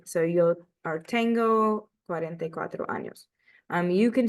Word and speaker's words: años: Remember that años is pronounced like an N and a Y. So yo are tengo 44 años.